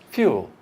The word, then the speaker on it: fuel: Then we have wood plus the schwa, fuel. Fuel. We also have a Y in there. You notice there's a Y between the F and the U.